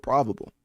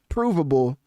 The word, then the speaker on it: provable: what I just realized I was mispronouncing provable the whole time I said probable.